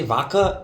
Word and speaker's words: vodka: Also, I found out I say vodka and not vodka. I don't pronounce Vodka. I don't pronounce the D.